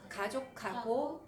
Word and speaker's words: 가족하고: 뒤에 히읗이 만나면 카 발음이 나요. 가족하고 이렇게 돼요.